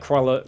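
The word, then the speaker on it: Croixleur: interested that and like crawler was it because I don't have to but I had to pronounce it like koala the c-r-o-a-x-l-e-u-r it's like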